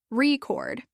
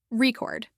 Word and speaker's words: record: than others for example in the word record when it's used as a noun the stress is on the first syllable record but when it's used as a verb the stress is on the second syllable record misplacing the stress can